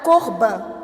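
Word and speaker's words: קורבן: ele diz o seguinte: "A palavra para sacrifício é pronunciada corban". A palavra hebraica para sacrifício, corbã palavra fascinante.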